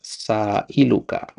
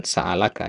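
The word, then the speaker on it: سائلك: N satifu ya baina yadaillahi jalla waala waallah azza waalla sailuka ya bukan saalaka ya bertanya padamil sail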